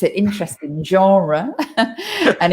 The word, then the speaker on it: genre: premiere like the genre both of those words come from french and we try in english we always try to pronounce these foreign words uh in the foreign accents it's not like spanish